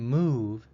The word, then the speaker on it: move: dots come number four the O in move sounds like the along u in tube the symbol I am